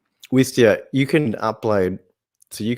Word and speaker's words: Wistia: do you say that is it westia not with stereo wisteria is the plant wistia wistia you can upload so